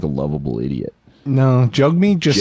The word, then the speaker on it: Jagmeet: Did you know, I think I mentioned this, but it's actually pronounced Jugmeat, apparently. Maybe I'm wrong. I'll call him Jagmeet forever.